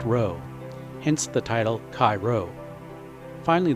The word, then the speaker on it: rho: with a sideways head and that P is pronounced row hence the title Cy finally there is another